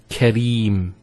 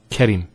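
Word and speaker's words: كريم: So here we have the ra, kasra, followed by the ya. This is the ya here. So Kareem, not Karim.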